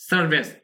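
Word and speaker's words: service: Of social সার্ভিস, উচ্চারণ করে খেয়াল করুন, সার্ভিস, সার্ভিস, এইটা এটাও কিন্তু সাউন্ড দ্রুত বলতে হবে, সার্ভিস, এটা কিন্তু সার্ভিস, এবং এই ই উচ্চারণটা কিছুটা একারের মতো হবে, সার্ভিস।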